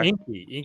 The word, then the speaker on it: Enki: how do you spell that? Inky. It's ENKI. Oh, Inky.